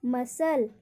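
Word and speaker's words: muscle: देखिए, इसका रूल है कि शब्द के अंत में SCLE हो तो वहाँ पर सी का उच्चारण नहीं होता है। SCLE हो तो वहाँ पर सी का उच्चारण नहीं होगा। अब इसमें देखिए, मसल, मसल, Saint, science, scene.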